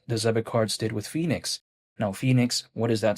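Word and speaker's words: PHNIX: But Phoenix, even though it's not spelled like the actual Phoenix, like you know, Phoenix, Arizona, it's spelled like P H N I X.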